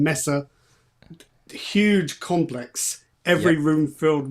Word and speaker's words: Messe: It's a Cologne, how do you pronounce it in German? Messe.